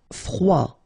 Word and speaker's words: froid: Froid, final D not pronounced.